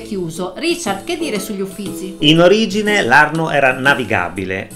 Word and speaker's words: Uffizi: al volo come detto la parola Uffizi deriva letteralmente dalla parola uffici non si dice uffici con le due c ma sentirete quasi tutti di dire Uffizi con la doppia Z anche se di fatto ne è una sola mentre siete in fila